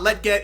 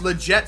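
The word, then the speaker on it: Lletget: Dempsey up top Legette I know I was saying his name wrong in the last episode it's not let get it's legit so I apologize for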